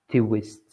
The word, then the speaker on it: twist: twist, twist, twist. No. Okay. Yep. One syllable. The TW are together. Twist.